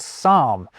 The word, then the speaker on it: psalm: So we pretend the P isn't there when we pronounce Greek-derived words like psychology and psalm.